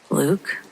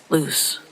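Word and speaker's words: Luce: It's spelled L U C E. Luke, I guessed. Sam shook his head. No, that's L U C E like loose.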